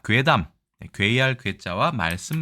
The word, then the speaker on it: 怪談: 짧고 간략하게 설명드리겠습니다 자 일단이 글자는 괴담이라고 읽습니다 괴담 괴상한 이야기를 이야기하죠 보통은